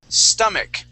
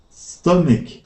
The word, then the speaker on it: stomach: here uh that is stomach now on this word the CH at the end of the word is actually pronounced like a k stomach there you go stomach